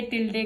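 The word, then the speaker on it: tilde: Which is pronounced bye, pronounced as, pronounce कैसे करते हैं? टिल्डे।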